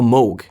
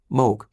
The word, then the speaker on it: Moog: the Moog Messenger, or Moog. Rhymes with vogue. Just remember that. Rhymes with vogue, Moog.